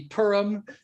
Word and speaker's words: Purim: And in Israel, it's a very special holiday, which in American pronunciation would be Purim. In Hebrew, I think it would be something closer to Purim, and I might be totally wrong on that too.